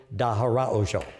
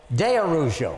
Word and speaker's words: de Araujo: and gentlemen I'd like you to meet dahar oo how you doing nice nice to have you here nice to have you that last name is pronounced oh It's Tricky it's de arjo de arujo I was close wasn't I it was it